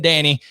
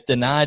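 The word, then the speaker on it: Dani: coach it is pronounced deny i was saying danny here in my my redneck you know georgia uh accent here but it's not danny it's deny dennis sutton and we're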